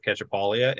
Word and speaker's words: Cacciapaglia: even though I usually say I always spell it out ketchupalia and so you can find me on Facebook